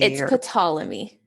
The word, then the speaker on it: Ptolemy: that was a book that, and I don't know how to pronounce his name, Ptolemy or Ptolemy. It's Ptolemy.